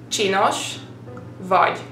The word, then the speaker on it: csinos vagy: Well, C and S in Hungarian is technically one letter and you've got to pronounce it cs, just like you would say like in Cheerios, like cs. Try to say Cheerios and then based on that try to pronounce csinos vagy.